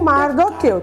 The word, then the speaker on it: Mardoqueu: E também temos aqui o Mordecai ou Mardoqueu. Tem as duas pronúncias, tá bom?